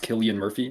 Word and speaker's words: Cillian: Did you know that it's pronounced Killian Murphy instead of Cillian?